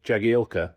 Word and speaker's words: Jagielka: Cuz Phil uh Jagielka, I think right at the end of his career, he just said, you know, you've been pronouncing my name wrong my whole career. You know, I'm Yagi.